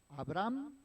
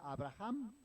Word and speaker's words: Abraham: Bueno, eh se algunos lo pronuncian y claro, nosotros en nuestro español pues decimos que la H no suena y como que la saltamos, ¿no? Pero, por ejemplo, yo creo que han escuchado hablar hablar eh en algunos otros lugares o alguien de de Israel y lo pronuncian Abraham, ¿verdad? Porque la H tiene en algunos en algunos lenguajes tiene un acento especial y Abraham.